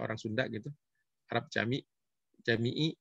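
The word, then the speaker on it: Camii: Jami'i sebenarnya bacanya.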